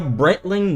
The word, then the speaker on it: Breitling: And don't try correcting me on that pronunciation down in the comments because it's a Swiss brand, not a US one, and that's how you pronounce it.